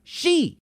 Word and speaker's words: Xi: Why does he use Roman numerals for 11 if his name is pronounced she? He is not President 11 and he doesn't use Roman numerals. His name is spelled Xi and is pronounced she.